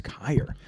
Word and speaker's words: Kyer: Um, pronounce your last name for me. Ky. Kyer.